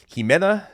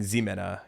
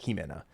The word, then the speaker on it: Ximena: Ximena Natsel. I think I was saying Ximena cuz it starts with an X, but it's a Ximena.